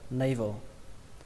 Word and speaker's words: navel: Navel. Navel. Từ này tương đối đơn giản. Navel. Navel. Trọng âm của nó rơi vào âm đầu tiên, âm nay.